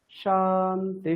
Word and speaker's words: शान्तिः: সাতে নিচে বললেন, তিতে উপরে বললেন। প্রথম দুটোতে দেখুন, সা উপরে হবে, তি নিচে হবে, তাই তো? তাহলে কি হবে? শান্তি শান্তি শান্তিঃ।